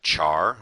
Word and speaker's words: char: So I'm going to make a a char or a char if you prefer to pronounce it that way, and I'll just call it the current character.